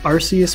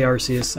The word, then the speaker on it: Arceus: Morlell, Magmar, Dewpider, an Arceus Prism Star from Forbidden Light, from the newest set. That's really cool. Really pretty card. I say Arceus, I know it's supposed